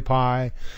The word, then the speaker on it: pi: cherry pie I love the concept of blueberry pie and I'm particularly crazy about the concept of